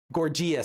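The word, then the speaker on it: Gorgias: was this man named Gorgeous. Gorgius some people pronounce it but I prefer gorgeous because he was Gorgius was criticized by some for being a shallow if effective entertainer.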